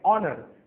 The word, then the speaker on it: honour: इन दोनों शब्दों में H जो अक्षर है ये साइलेंट है, हम इसका उच्चारण नहीं करेंगे, तो इसलिए ये शब्द शुरू होते हैं वावल O की आवाज से, ऑनर, ऑनेस्ट, और इसलिए